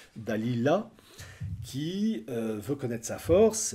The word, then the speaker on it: Dalila: par une certaine al il faut bien prononcer le nom Dalila et non pas Dalida Dalila qui veut connaître sa